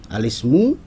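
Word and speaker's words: الاسم: bahasa Arab itu adalah alismu kita tidak dibacanya alismu Ya kurang tepat kalau dibacanya itu adalah alismu karena i dari Ismu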